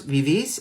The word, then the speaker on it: vivís: Accent on the I with an S at the end, vosotros vivís.